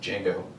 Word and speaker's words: Django: He's like, "Django." The D is silent, and he goes, "I know," because that's him.